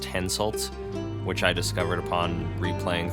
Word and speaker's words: Henselt: only by Peggy Hill so the king of Quetta one's name is pronounced henselt which i discovered upon